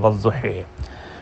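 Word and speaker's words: والضحى: سوال بنتے ہیں نا۔ تو اب اس کا درمیانہ تلفظ یہی بنتا ہے کہ ان کے نزدیک کہ یا کو الف اور یا کی درمیانی آواز میں پڑھو، اور وہ بنتی ہے ہا اور ہی کی درمیانی آواز والضحی۔ لیکن امام عاصم اس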